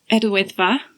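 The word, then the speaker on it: Yr Wyddfa: Idwyddfa.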